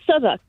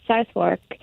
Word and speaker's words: Southwark: when I moved here I called it southwark until for quite a while until the family that